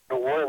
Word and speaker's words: Nguyen: This movie was made in the 60s, and Nguyen is a very common Vietnamese name, except it's spelled with a G, so it's not really pronounceable to English-speaking people, except you don't pronounce the G.